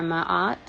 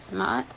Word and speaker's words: Ma'at: So I think it's Mayet or Ma'at. Ma'at. I think that's how you pronounce her name.